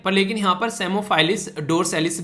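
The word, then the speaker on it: Psammophilus: तो P silent है यहाँ पर, तो सेमोफाइलिस और डोरसैलिस, तो ये इसका नाम है जो कि पी साइलेंट है, पी नहीं बोला जाएगा।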